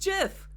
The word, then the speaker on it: GIF: does he named it jiff he calls a jiff he says it's pronounced jiff I did not know